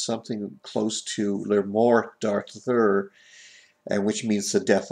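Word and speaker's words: Le Morte d'Arthur: I think it's pronounced something close to "Le Mort d'Arthur," and which means the death of Arthur. There isn't an accent on the last E. It's silent, I think.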